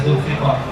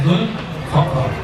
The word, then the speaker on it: Zulfaqar: Yang membaca Zulfiqar, saya membacanya Zulfaqar.